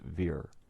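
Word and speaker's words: vier: verse four line forty in german the number four is pronounced veer if we include all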